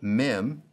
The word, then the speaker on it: mem: the right hand column mem sounds like the m in mother noon sounds like the